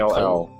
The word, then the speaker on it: Call: Call. The subtitle says Call. Yeah, but everyone pronounces it like Cole.